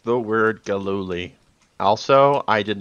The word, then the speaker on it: Gilluly: Gilluly. Gilluly. Gil-oo-ly.